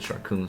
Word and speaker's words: Sharkoon: And I know I'm pronouncing that right now because I looked it up. At least the person that I said it said Sharkoon.